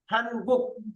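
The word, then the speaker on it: 한국: প্রথমটা দেখেন, প্রথমটার মধ্যে আপনি গু বা খু বললেন, পরে নিচে যখন থাকবে অবশ্যই এটাকে ক উচ্চারণ করতে হবে, গুক গুক। এটা হলো গুক, হান গুক হান গুক।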